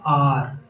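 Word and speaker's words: hour: उसी टाइप से ये क्या है, आर, आर, ठीक है। इसमें एच जो है वो साइलेंट है, एच जो है वो साइलेंट है।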